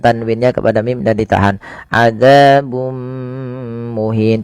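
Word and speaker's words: عذابٌ مهين: kepada mim dan ditahan adzabum muhin tidak dibaca adzabun muhin.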